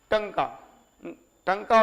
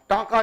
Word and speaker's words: टंका: देखिएगा एक चीज और, अरबी सिक्का चलाया, जीतल और टंका और जीतल, हाँ टांका नहीं टंका, हाँ TANK होता है तो उसको लोग टांका भी पढ़ देते हैं, लेकिन टंका और जीतल।